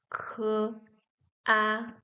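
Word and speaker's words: 卡: First, we have K plus A, K, A, A. Pronounced with the third tone, it sounds like Ka, Ka. Ka is the character used for a card, like the credit card.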